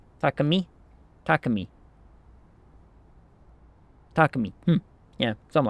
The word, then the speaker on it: Takemi: Last syllable includes the M, as that's how Japanese works. Me. Take-me. Takami?